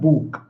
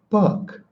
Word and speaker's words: book: This is not book. It's book. Book. You see how soft my English is? Even though I'm a rough guy? It's book. It's not book. Bookha. Book. You see how light the K is?